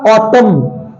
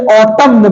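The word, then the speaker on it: autumn: ठीक है, अगला है हमारा ऑटम। देखा जाए तो अगर इसको पढ़ा जाए स्पेलिंग से तो इसे ऑटम्न पढ़ा जाएगा, ऑटम्न, ऑटम्न, ऑटम्न। लेकिन ये ऑटम्न नहीं होता है, ये ऑटम होता है।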